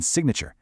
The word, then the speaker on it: signature: The G in sign is silent, but you can totally hear it in signature.